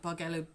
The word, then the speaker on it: Bargello: know whichever you like Bargello jello bark ello I think it's one of those either either words okay and I'm dropping